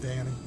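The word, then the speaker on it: Dhani: that is and and it's spelled d h a n i but pronounced Danny or Donnie Donnie and and and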